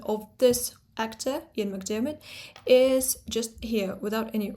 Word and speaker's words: McDiarmid: and it would be McDiarmid, but it's McDiarmid because this is the Scottish pronunciation which is a rhotic accent.